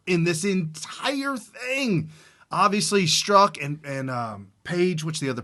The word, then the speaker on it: Strzok: Is that pronounced stroke? You say it's pronounced Strzok. Everybody's calling it Strzok. It's okay, STR. It's probably Strzok.